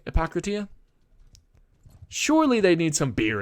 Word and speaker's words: Hippocrates: do you pronounce that I always used to say it Epocrates but that doesn't make sense I feel like that I shouldn't shouldn't make that sound um I just thought